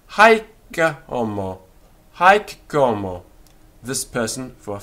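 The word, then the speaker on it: haec: this person or we can say haika or hike como this person for a female so notice that the k of hick is doubled and the h of homo disappears in this case hick como hike como and then we have an accusative hunk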